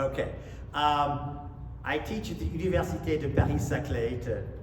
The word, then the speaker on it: Université de Paris-Saclay: I teach at the Université de Paris-Saclay, to correct the pronunciation a little bit.